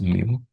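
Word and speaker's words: μ: Pronounced mu.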